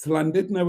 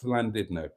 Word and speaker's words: Llandudno: um so mustard say it's slid know if you're Welsh if you're English it's sled now well thank you for